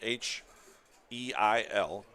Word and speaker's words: Heil: It's spelled H-E-I-L. I believe Quiz is pronouncing it Heil, so we'll go with that.